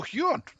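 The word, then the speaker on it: Huion: No, Huon, not Hewitt. Spelled like this.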